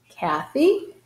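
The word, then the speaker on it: Cathy: So Kathy, now C is followed by letter A. That's why it's going to have hard C sound, which is same as K. Kathy, she's a mechanic.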